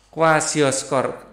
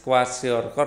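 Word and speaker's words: kwashiorkor: Tapi kalau kekurangan akan menghasilkan penyakit Hunger Odem atau kwasioskor. Alah, kok susah sih bacanya. Hunger Odem atau apa tadi? Kwasiorkor ya.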